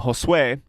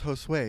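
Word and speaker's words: Josué: the farmers there named Josue, which is actually Joshua. Yeah, and by the way, I mispronounced it about 70 times, like a stupid ass. Called him Josu. And he's like, no, it's Josue.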